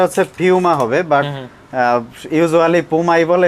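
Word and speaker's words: Puma: ৳400 এখন আবার এই যে অরিজিনাল দেখেন অথেন্টিক পোমা পোমা কিন্তু আপনার বাই দা ওয়ে এটার প্রোনাউন্সিয়েশনটা হচ্ছে ফিউমা হবে বাট ইউজুয়ালি পোই বলে এজন্য আমিও পোমা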